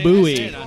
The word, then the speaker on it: Bowie: It's pronounced Bowie.